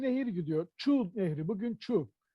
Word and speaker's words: Çu: Çu Nehri, bugün Çu. Kazak ve Kırgızlar şeyleri Ç olarak telaffuz ederler. Bazen de Ç'leri şey olarak telaffuz ederler. Dolayısıyla Çu Nehri aslında Şu Nehridir.